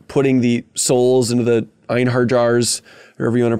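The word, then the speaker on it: einherjar: the souls into the einhard jars wherever you want to pronounce that one and stuff uh giving them the J is a y sound einar jar there's no J there's no J sound there's it it's okay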